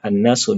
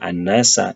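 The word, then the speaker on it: النَّاسُ: Jadi kita membaca annasu sebagai annasu dengan dommah. Bukan annasa atau annasi karena bertindak sebagai fa'il.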